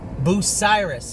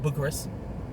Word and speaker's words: Bucyrus: We went to Bucyrus, is how you say it. It's not Bucharest, it's Bucyrus.